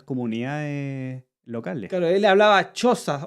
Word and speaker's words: Xhosa: Claro, él hablaba Xhosa, o XHOSA, como se pronuncia, ¿cachai?